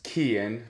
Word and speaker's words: Quillan: My name is Quillan, but it's spelled like Quillan, hence why I go by.